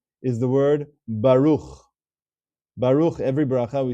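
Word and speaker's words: ברוך: You'll notice that there is a sheva underneath that final letter, the chaf sofit, and it is silent. You can almost ignore it. You could pretend it's not there.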